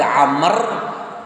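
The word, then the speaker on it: عمرو: Hain nih roll tulisannya berarti bacaannya Umar Kapan dibaca Amr jika setelah huruf ro itu ada huruf Waw air Meme Roro Wow mati bacanya Amr kalau tak ada Wow Umar makanya Rasulullah pernah berkata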